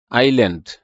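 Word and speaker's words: island: এর উচ্চারণ হয় না আইল্যান্ড কারণ এটা এস এর উচ্চারণ হয় না রং কারণ এটা ডব্লিউ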